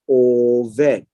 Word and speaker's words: Oved: And they call his name Oved. Oved. And this is pronounced as Oved. Oved comes from the word avad, which is to serve, to do work, or is working for her.